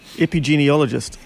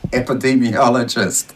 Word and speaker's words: epidemiologist: couple of seconds ago say it again epigeneologist yeah that's not it what is it epidemiologist dean what does it